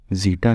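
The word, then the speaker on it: zeta: dumping ratio कहते हैं य ग्रीक लेटर है ये इसके स्पेलिंग है जीटा इस तरह से आप अनाउंस कर सकते हैं यहां पर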